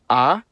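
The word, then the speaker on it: а: The cerillic version is called ah and makes the sound a uh I won't say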